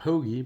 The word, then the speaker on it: porgy: the set eel that's we call it a pogie but it's spelled porgy mullet skate crab and butter